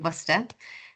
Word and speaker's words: Worcester: um but yeah so got the pronunciation right it is the University of buer um and I'll just